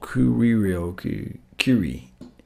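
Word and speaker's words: Queiro: Don't sleep on Kyle Curie.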